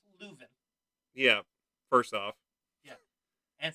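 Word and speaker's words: Leuven: from louvain belgium like let's pronounce luven yeah first off yeah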